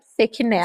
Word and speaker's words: Sechinel: E aí a minha convidada é a Rafa Sechinel, é assim que pronuncia? Sequinel, Sequinel, aí, ó.